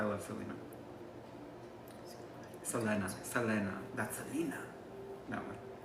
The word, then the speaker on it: Selena: inspirational so I love Selena Selena Selena that's Selena that one not Selina Gomez but Selena I hear a lot of people pronounce her name Selenas Selenas oh yeah okay if you could go